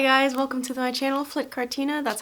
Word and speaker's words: Flytte Kartina: Hi guys, welcome to my channel, Flytte Kartina. That's how you pronounce it, that's how you should pronounce it, and yeah.